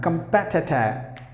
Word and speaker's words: competitor: Com is a long sound. You have to make it short. T, competi, long sound again. Everything should be short sound. Competitor. The letter R is silent. You know exactly why it is silent. You have to pronounce the word as competitor, competitor, competitor. P should be given more volume. That's the stressed syllable.